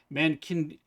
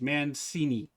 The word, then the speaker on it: Mancini: If I was going to go with phonetically, it'd be Mankiniji. And when I looked at it, like, no, it's not Mankiniji. It's Mancini. Like Cincinnati, right? Where you have the CIN.